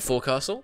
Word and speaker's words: forecastle: I know it's spelled forecastle. This, when you're saying this, is pronounced forecastle. It's the bit at the front of the ship.